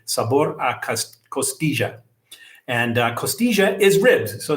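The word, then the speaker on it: costilla: little bit different and they pronounce the double L like a J. So I will say it like the Colombians do and I say sabor a costigia and costia is ribs.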